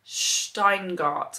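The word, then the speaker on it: Shteyngart: our country Friends by Gary steinart I think is how um his surname is pronounced and this is about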